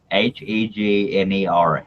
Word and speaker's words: Hegner: The Hagner. Hagner. H E G N E R Hegner.